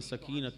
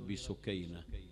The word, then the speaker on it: سكينة: ومن المعلوم لديكم أنها اشتهرت بسكينة، فلا هو اسم ولا هو صحيح في نطقه، المفترض سكينة، مأخوذ من السكينة والوقار التي كان جلبابها وهيبتها، هذا واحد.